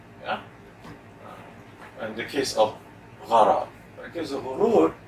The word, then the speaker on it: gharar: Is guru the same as gharar?